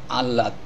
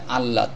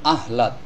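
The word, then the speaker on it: আহ্লাদ: এখানেও খুবই গুরুত্বপূর্ণ বিষয় আল্লাদ শব্দটির সঠিক উচ্চারণ হবে আল্লাদ অনেকে বলেন আহলাদ আহলাদ বলা যাবে না আমরা আল্লাদ দিয়ে মাথায়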